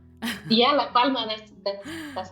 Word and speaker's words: La Palma: Yeah, La Palma. That's that's how I pronounce it.